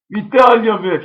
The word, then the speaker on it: Vitalyevich: How do you spell it? No, how do you say it? Say it. It is Vitalyevich? Vitalyevich.